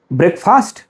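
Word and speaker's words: breakfast: ब्रेकफास्ट I take ब्रेकफास्ट wrong you are absolutely wrong if यू are saying ब्रेकफास्ट because if you think that there is ब्रेक एंड फ़ास्ट ब्रेक is different word फ़ास्ट फ़ास्ट is completely different from this word ब्रेक एंड फ़ास्ट आर not coming together to form this word word this is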